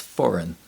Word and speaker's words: foreign: There are several common words which contain the silent letter K, such as knife, and the silent letter G, such as foreign.